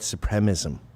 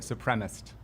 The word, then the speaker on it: supremacist: By the way, Jake always calls it white supremism. You're not a white supremacist. We're just dropping syllables now? They say that like on MSNBC all the time too. White supremacist.